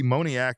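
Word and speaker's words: Moniak: These were the the Mickey Moniac Monia, right? That's how you say it.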